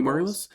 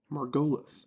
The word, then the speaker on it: Margolis: and it was Cindy Margulis. Yeah. And then, like, the next day, I watched the show, and was like, oh, hey, Cindy Margulis. Cindy Margulis. What a... Margolis. That's how you say her name.